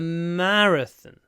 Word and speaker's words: marathon: is 42 kilm a marathon Marathon the stress on the first syllable Marathon Marathon the next